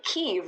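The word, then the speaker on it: Kyiv: think is highly appreciated so you say keev when you're in keev okay so what was the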